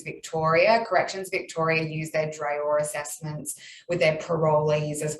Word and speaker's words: DRAOR: And there was a question about how Drear acronym is spelled.